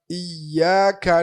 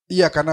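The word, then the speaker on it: إِيَّاكَ: Jadi misalnya contoh contoh aja dalam iyyaka na'budu itu ada tasydid pada huruf ya. Jadi kita enggak bisa bacanya iya kana budu wa iya karena iya. Ini yang kayaknya orang kadang-kadang suka lewat iyaka ada tasdidnya tuh.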